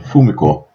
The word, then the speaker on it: Fumiko: Fumiko or Fumiko, let me use a Japanese pronunciation. Fumiko, she begins to avoid people that reflect those.